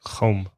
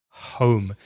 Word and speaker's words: home: like hypothetical and home, be careful of the H sound. It's very, very soft in English, and there's a tendency for you to say a bit like from the throat, like home. When I got home, it's home.